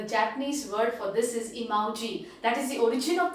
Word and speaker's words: emoji: mobiles what is that it is emoji it is not emojis the japanese word for this is emoji that is the origin